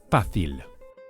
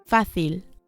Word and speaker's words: fácil: The way to say easy is fácil. Fácil. Or in Latin America, fácil.